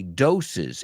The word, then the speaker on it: doses: Maybe you had too many doses. Y esa palabra dose, la segunda palabra, cuando añadimos una S, lo hacemos en plural, cambia, recibe dos sílabas, right?